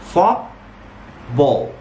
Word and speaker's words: football: لا مش كده اسمها football. Football. ما تقولش football. Don't say. Don't pronounce the ta sound if it comes between two consonants.